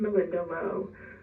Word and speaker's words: Malinda Lo: make sure it's love hello my name is Melinda Lowe this isn't the name I was born with